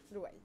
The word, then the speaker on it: Louaïl: redis-moi juste comment je je dis ton prénom reprononcele moi moi mon prénom c'est loua loua louil ok super bon moi ce que j'aime bien